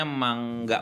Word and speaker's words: manga: Nah, ngomongin soal anime atau manga atau manga sih sebenarnya? Manga ya? Cara bacanya mangga, bukan manga. Oke. Mangga buah mangga.